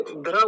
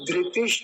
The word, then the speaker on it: धृति: ति हो गया ति कुछ लोग गलत उच्चारण क्या करते हैं वो समझिए ध्र बोलते हैं ध्र ध्र तो ध्र गलत उच्चारण है धृति ध ध्री ध्री ध्र नहीं ध्री बोलेंगे ऐसे करके ये वाला शुद्ध उच्चारण है ध धृति च अगला